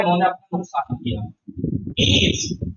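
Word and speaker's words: میز: मीज क्या बोलते हैं इसको? मीज, जिसे हम मेज कहते हैं वो मीज कहते हैं। प्रोनाउंसिएशन पे ध्यान देना।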